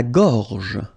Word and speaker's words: gorge: La gorge. La gorge. Okay, remember when you've got this combination G and O, you get the sound go, go. Okay, so gorge. And then G and E gives J.